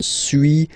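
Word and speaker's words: suis: okay so first one Su as you've been noticing you don't pronounce the final s okay and for two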